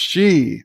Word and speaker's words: Xi: Kronos says it's pronounced she.